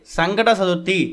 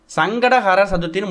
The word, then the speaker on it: சங்கடஹர சதுர்த்தி: அதே நேரம் சங்கடகர சதுர்த்தி சதுர்த்தி அப்படிங்கறத முதல்ல தெளிவா உச்சரிக்கணும் நிறைய பேரு சங்கட சதுர்த்தி சங்கட சதுர்த்தின்னு மொட்டையா சொல்றாங்க அப்படி சொல்லவே கூடாது சங்கடஹர நம்மோட சங்கடங்களை தீர்க்கக்கூடிய சதுர்த்தின்னு அர்த்தம் சங்கடஹர சதுர்த்தின்னு முழுமையா சொல்லுங்க வெறும் சங்கட சதுர்த்தின்னு சொன்னீங்கன்னா